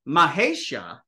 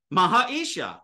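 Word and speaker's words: महेश: Mahesha, Mahaisha, Mahesha, Mahaisha, Mahaisha, Mahesha, Mahesha, Mahesha. Mahesha is easier to say than Mahisha or Mahaisha.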